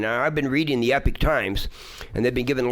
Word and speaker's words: Epoch Times: It's spelled EPOCH, the Epoch Times. Epoch Times? Yeah, Epoch, yeah, but Epic Times they call it. For some, I guess it's pronounced that way.